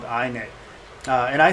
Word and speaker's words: init: and most people say init init but i for whatever i i like i think i say i knit because of the iphone and all that stuff